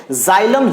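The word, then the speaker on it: xylem: जाइलम ज से आपका प्रोनाउंसिएशन हो रहा है ज, तो यानी कि समझो कि ये जल को एक्सचेंज करने वाला है।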